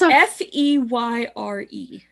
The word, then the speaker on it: Feyre: here he's like and he pronounced his name in like the two full syllables feyre like she's the